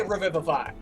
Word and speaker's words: revivify: Even the fucking British say revivify.